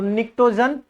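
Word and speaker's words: pnictogen: पी यहां पे क्या होगा? साइलेंट होगा। तो निक्टोजन फैमिली।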